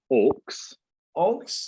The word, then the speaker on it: aux: so the next ones these are called aux aux and it stands for auxiliary so you pronounce it orcs yes but what that